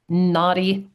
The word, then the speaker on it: Nadi: Okay, it's called Indian naughty palm leaf reading. So, uh, naughty is spelled N A DI.